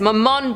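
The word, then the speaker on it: Mammon: the human heart with I think they actually said it right this time they said mman personality said M man they said my last name I feel so accomplished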